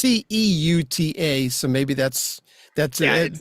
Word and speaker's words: Ceuta: Because But I anyway, looked it up and it's went, you pronounce that like that? well, it's Ceuta, so maybe that's Yeah, it.